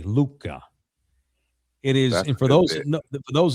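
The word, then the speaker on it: Lucca: But it is called Luca, which is it but it's spelled with the Italian form, l u c c a, Luca.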